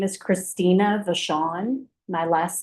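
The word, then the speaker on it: Vachon: My name is Christina Vashawn. My last name is spelled V A C H O N.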